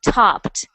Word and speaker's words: topped: is a past tense so you don't pronounce the Ed D like that you pronounce it with like a little bit of a t or a d topped topped good good and